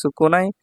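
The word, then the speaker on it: 少ない: বসলে এটা হয়ে যাবে সুকুনাই এখানেশি বসলে এটা হয়ে যাবে সুকশি এটা খেয়াল রাখতে হবে যে একই কাঞ্জি কখন সুকুনাই হচ্ছে কখন সুকুশি হচ্ছে তো সুকুনাই হবে যখন এই কাঞ্জি সিম্বলের সাথে নাই বসবে আর সুকশি হবে যখন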